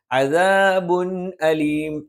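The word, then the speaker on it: عَذَابٌ أَلِيمٌ: അദാബുൻ അലീം. തൻവീനെയും വ്യക്തമായി ഉച്ചരിക്കണം, ഹംസിനെയും വ്യക്തമായി ഉച്ചരിക്കണം.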